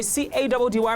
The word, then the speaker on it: Caddy: Your boy C-A-D-D-Y pronounced Caddy is calling it mission accomplished.